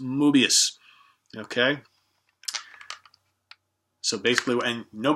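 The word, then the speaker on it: Möbius: It looks like Mobius, but M-O with the little things on top of it, B-U-I-S, Strip. I think it's pronounced Mobius.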